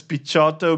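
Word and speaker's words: Picciotto: rehearsals called guy picchotto so i pronounce this as pichato because this is the right italian way i'm not sure how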